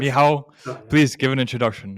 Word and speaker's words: Michal: Mihail, did I pronounce that right? Please do correct It's me if I it's didn't. Mihail. it's Michal. Mihao. Sorry. Yes. Mihao, Yeah.